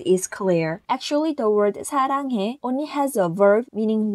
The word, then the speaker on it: 사랑해: It sounds similar to the English alphabet S, but it is slightly lighter than S. Relatively, the S of the sun, see, so is pronounced closer to the double syllable 쌍시옷, and the word of this is 사랑해.